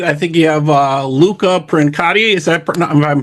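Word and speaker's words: Luca Princiotta: know, the the the the journalist's feet because pronouncing our name is difficult. This Prin Luca Prinota is a great guitarist.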